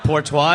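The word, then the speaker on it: Porteous: Portois it is.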